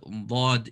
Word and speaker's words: ض: So hafat al-lisan, there's dad and lam pronounced from the side of the tongue.